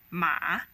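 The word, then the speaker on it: 骂: as a third tone ma it means horse but if you pronounce it as a fourth tone ma then it means a verb to curse to condem or to blame which is a very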